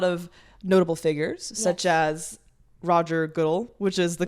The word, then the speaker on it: Goodell: You've worked with a lot of notable figures, such as Roger Goodell, which is the Roger Goodell.